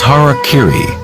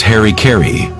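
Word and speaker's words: hara-kiri: suicide or supoku was hara kiri was often mispronounced as harry kerry it means to impale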